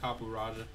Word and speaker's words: Copperajah: Copperajah. Yeah. Because I believe a Raja is a political holder or something.